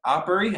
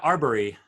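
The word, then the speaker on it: Arbery: shooting of um of uh ahmed as uh oppori i'm i totally butchered his name but the the guy in uh was it georgia oh yeah yeah uh yeah arbory arbory thank you um and uh i went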